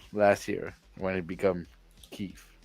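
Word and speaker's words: Kyiv: right so oh maybe we're going to start pronouncing the name right right so we everybody everybody was saying Kiev right yeah until last year when it became Keith right so oh I didn't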